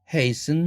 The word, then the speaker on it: hasten: 밑에 더 밑으로 내려오면 hasten, fasten 이런 단어들도 hasten, fasten 하지 않고 트를 날리는 거.